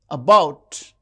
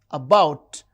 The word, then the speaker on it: about: Paper, paper, and about, about. The second syllable is stressed.